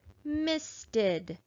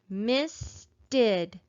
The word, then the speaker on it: misted: d so that means this suffix e d says ed and it's going to add an extra syllable to my word because it has a vowel sound let's clap it out to make sure this is the word misted let's clap it together